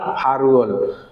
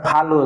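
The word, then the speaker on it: 팔월: তাহলে দেখেন কি হয়েছে সন খু ব্যাগ খুশি ফাল 1998 এবং ফাল ফারুল, কারণ এটা ফালুল হবে না, এটার উচ্চারণ কি ফারুল।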